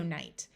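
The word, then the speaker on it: knight: tighten sight write night knen has a silent k so this word is also night this night means the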